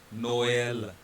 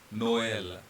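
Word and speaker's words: Noël: E carries a tremor sign, so we will pronounce both of them separate, and it's like Noel, Noel.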